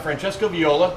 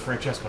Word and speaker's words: Francesco Viola: minute from my house uh and we've got Francesco Viola correct that's correct yeah perfect pronunciation thank you I looked it up watched the video I was I was watching it and Dan Campbell says Francesca um so we're here at Luca Mariano's location